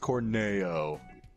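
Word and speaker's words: Corneo: Don Korn holiest ill it's pronounced corny Oh not Chris Cornell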